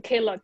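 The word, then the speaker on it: Klook: one did i say correctly sometimes i say k look or claw how do you say it yeah yeah i i i pronounce it as a k look yes we did we did invest in in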